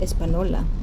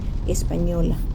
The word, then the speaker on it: Española: the town espanol which in english is mispronounced espanola but it is really in spanish pronounced espanola the town became a